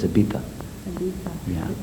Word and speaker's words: Ibiza: Ibiza, well, a lot of English or Americans, Canadians or whatever, they say Ibiza, but the Spanish pronounce Z as TH, so it's Ibiza.